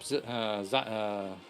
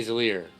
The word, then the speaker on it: Xyler: And next up, Xyler. Xyler. Sorry. I keep wanting to say Zalier. Just because of how Githyanki names get pronounced, but...